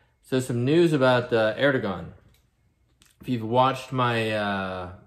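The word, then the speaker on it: Erdoğan: book revelation unfolding that president erdogan or correctly pronounced erdogan of turkey is a very strong candidate for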